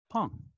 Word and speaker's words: Pang: and futurist Alex Soojung-Kim Pong. I have that pronunciation correct, don't I? No, perfect, Adam.